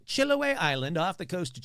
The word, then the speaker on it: Chiloé: Chiloé.